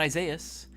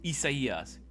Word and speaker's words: Isaias: My name is not Isaias. My name is Isaias. If you want me to get hella Mexican about it, my full legal name, my full government name, Isaias.